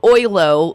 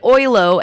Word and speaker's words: Oyloe: Like oi, mate, right? Isn't that OI, though? Right. I don't know. It's like ahoy. How's that? There you go. Ahoylo. Just ahoylo. It's that silent E at the end that really throws a lot of people off.